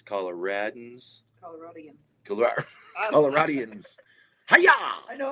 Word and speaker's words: Coloradans: It's Coloradans.